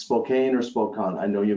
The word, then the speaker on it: Spokane: Spokan no I can't remember now if it's Spokane or Spokan I know you make fun of